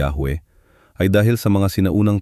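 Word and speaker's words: Yahweh: Ang isa sa mga dahilan kung bakit maraming naniniwala na ang tamang pagbigkas ay Yahwe ay dahil sa mga sinaunang tekstong griego na nagsasaad ng Ioahuwe na maaaring representasyon ng pagbigkas ng Yahwe.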